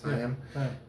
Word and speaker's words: Tayam: And then we had C2, which was Tayam? Tayam, am I saying it right? Tayam.